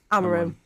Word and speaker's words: Amorim: Have I pronounced that correctly? Amorim.